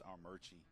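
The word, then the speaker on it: Armuchee: I live in the town of Rome, and it's Armurchie. Okay. But it's spelled Armucci. Yeah. And I don't know why. That's the way you pronounce it. It's Armurchie.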